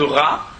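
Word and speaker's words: רַע: En hébreu il se trouve que le mot ton prochain en hébreu se dit réa qui s'écrit exactement de la même manière que ra, c'est-à-dire le mal.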